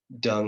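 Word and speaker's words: Deng: uh uh it was it was actually uh dung right like his name is pronounced dung but it's actually spelled D N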